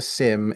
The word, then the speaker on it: SIEM: It's pronounced SIM, correct.